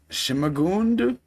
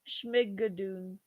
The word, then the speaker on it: Schmigadoon: Shimagund? It's a Schmigadoon. Schmigadoon? There. Yeah, what you said. Yeah. This, but is being turned into a Broadway musical. Schmigadoon.